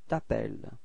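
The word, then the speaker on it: t'appelles: get this toel okay final s is not pronounced to tapel repeat okay and then come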